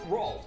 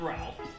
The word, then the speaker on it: Rolf: My name is pronounced Rolf the Wolf, not Ralph.